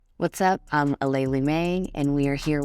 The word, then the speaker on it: Aleali: It's Aleali. I think Ali is a little lazy because that's only 3 letters of the 6 letters of my name.